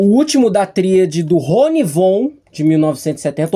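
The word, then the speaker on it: Ronnie Von: Eu tô falando do máquina voadora, o último da tríade do Ronivon de 1970 ou Ronifon, que é a pronúncia correta, né? Porque o V ali tem um som de um F, né?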